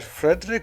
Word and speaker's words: Frédéric: And the reason was that Frederick was Frederic, I think it should be pronounced.